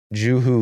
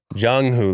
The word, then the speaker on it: Jung-hoo: I mean, Joo-Hoo Lee, brother. What, did I say his name wrong? Jung-Hoo Lee. I'm sorry, Jung. Joo-Hoo. Sorry, it's not Joo-Hoo. It's Jung-Hoo.